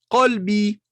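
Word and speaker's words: قلب: Kelbi, qalbi, qalbi, mon cœur. Kelbi, mon chien. C'est une différence, n'est-ce pas? Kelb, chien. Qalb, le cœur. Donc faites attention à bien prononcer.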